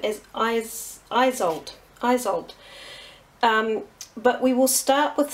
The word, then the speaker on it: Isolde: Now, I know you're probably all wanting to just jump straight into this this card in the middle, and we pronounce her name as Isolde.